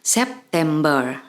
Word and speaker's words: September: persis dengan bahasa Indonesia, hanya mungkin pengucapannya saja huruf R-nya agak sedikit ditipiskan cara membacanya. September.